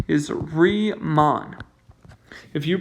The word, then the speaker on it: Riemann: we're doing here this strategy these are called riemann sums and riemann is a dude one of the most famous mathematicians of all time the way to pronounce his name is re mon if you pronounce his name ryman i will